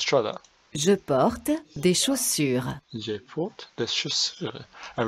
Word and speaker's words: chaussures: je porte des chaussures, Je porte des chaussures. And remember the de, because you don't pronounce the S on the end.